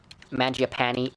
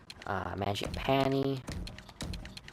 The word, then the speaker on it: Mangiapane: Mangiapane. Or Mangiapane, I think is how you pronounce it, is Italian. Mangiapane would make more sense.